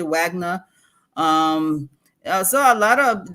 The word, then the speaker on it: Wagner: to be done the Wagner situation of Vagner some people say Vagner which is I think the right pronunciation English we say Wagner um so a lot